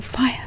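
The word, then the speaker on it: whaea: They see me and they call out, "Fire, fire, can I come to your room?" Or fire, incidentally, it's spelled W-H-A-E-A, and it's a Māori word, and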